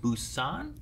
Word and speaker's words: Busan: You guys voted for Train to Busan?